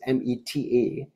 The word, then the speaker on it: meta: Now, meta in this case is spelled as M-E-T-A, meta. Meta awareness, not meta, M-E-T-T-A, that like in meta meditation. So it's meta awareness, M-E-T-A.